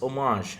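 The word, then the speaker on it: homage: game I think seriously it's pronounced omage H omage okay thank you thank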